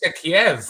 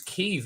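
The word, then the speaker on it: Kyiv: It's not Kiev. It's Kiev. Even journalists now are going Kiev. John Sweeney's on the front line. That's because Vitaly Klitschko is the mayor, and he said no, it's Kiev.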